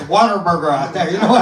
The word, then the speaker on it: Whataburger: It's where they pronounce Whataburger with the hard R. You know what I mean? It's Whataburger out there.